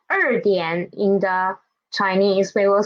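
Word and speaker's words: 两点: When there are two third tone syllables together, we will change the first one into second tone, right? So although it is written as 2点, we will read it as 2点.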